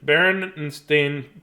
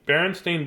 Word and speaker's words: Berenstain: embarrassed book or no brennan Berenstain Berenstein bears Oh mass I can't I need I did the Bears I just realized when I said that I've been saying it wrong for years this book is actually